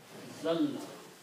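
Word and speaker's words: أَزَلَّ: When you read, when there are 2 letters together, this is written and pronounced like this way: azalla.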